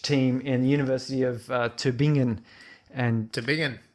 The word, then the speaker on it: Tübingen: this research team in the University of Tübingen, and Tübingen. correct me if I got that pronunciation incorrectly.